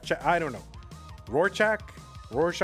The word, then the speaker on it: Rurczak: Or Rurczak, I don't know. Rurczak. I say it like, I do have a tendency to say it like the Rorschach test.